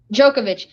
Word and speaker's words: Djokovic: How do you pronounce his name? Djokovic. He's definitely better, in my opinion, than Federer.